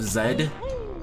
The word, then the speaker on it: Z: Sometimes you do need to pronounce uh what the Z as Zed cuz there's like a couple of times where they try to rhyme and the rhyme doesn't work if you say Z instead of zed.